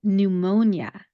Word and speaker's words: pneumonia: Now, pneumonia, when you look at the spelling, is spelled with a P as the first letter. Pneumonia. When you look at that, you would think that there would be a P sound of some kind as the consonant sound to start the word.